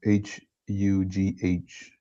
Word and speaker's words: Hugh: How would you say h U G H mail? How would you say this? How would you say his name? Q.